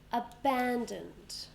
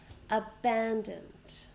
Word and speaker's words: abandoned: How many sounds? A, ban, dunt, dunt. 3. Okay. A, ban, dunt. We stress the second one. Abandoned. Abandoned.